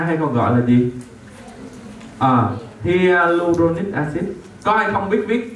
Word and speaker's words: hyaluronic acid: Dạ, đọc là hyaluronic acid.